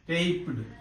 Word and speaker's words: taped: This is also pronounced as t.